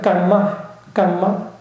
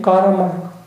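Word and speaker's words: kamma: 그래서 발리어는 깜마, 산스크리트 발음이 가라마.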